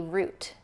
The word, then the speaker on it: route: Vita-mins are vitamins and route. Like if you take a route to go somewhere that is a root.